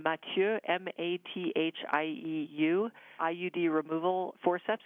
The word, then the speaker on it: Mathieu: There's one in particular that's spelled, it's a French name, Mathieu, M-A-T-H-I-E-U, IUD removal forceps.